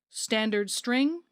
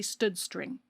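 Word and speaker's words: std::string: colon string which is generally pronounced standard string or some people might say stud string we're using the string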